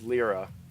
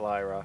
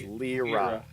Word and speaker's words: Lyra: Oh, and her name's Lyra, not Lyra, not Laura Croft. It's Lyra. So it has to be phonetically spelled for me, or else I'm gonna mess that up.